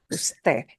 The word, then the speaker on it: usted: So if you see it listed as UD period, you still have to pronounce the whole word, usted.